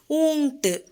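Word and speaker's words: ऊँट: Next one ஊங்ட்டு, ஊ இங் இட்டு, ஊங்ட்டு, camel, ஒட்டகம்.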